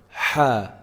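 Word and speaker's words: ح: throat at the top let's go back to the middle of the tongue for our letter ha how do we say it we should be feeling some vibration in the middle part of the throat if you put your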